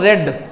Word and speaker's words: read: Spelling same रहेगी लेकिन उनका प्रोनाउंसिएशन सेकंड फॉर्म और थर्ड फॉर्म में रेड होता है।